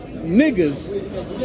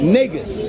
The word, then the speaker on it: negus: Now, because that little white boy on that YouTube video was not properly pronouncing an Amharic word, which is niggas, right? Not niggas. That's even better. Wait, time out. Not niggas, negus, right?